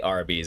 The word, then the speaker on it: Arby's: i think it's actually a lot of people thought it was r and b's um i think but they just kind of phonetically say arby's if i remember correctly